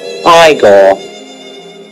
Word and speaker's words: Igor: now it's pronounced Igor so for the patreon voting poll for